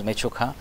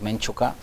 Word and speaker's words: Mechuka: Then is Mechuka, they pronounce it also known as Menchuka.